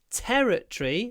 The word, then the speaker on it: territory: so territoria can be territory stress on the first syllable o territory it's territorial territorial T